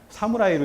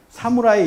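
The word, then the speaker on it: 侍: 상품들이 굉장히 많은데 그게 뭐냐면 모실 시자인데 이걸 읽을 때 뭐라고 읽냐면 사무라이로 읽어요. 사무라이라고 읽거든요. 이걸 우리처럼 시 이렇게 읽지 않습니다. 사무라이 이렇게 읽는다는 거죠.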